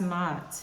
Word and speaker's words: Ma'at: I did say Ma'at too, but okay, so Mott. I like that. All right, so for the goddess Mott, represents alignment, truth, and balance.